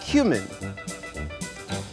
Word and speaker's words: cumin: You Yeah, it's pronounced cumin.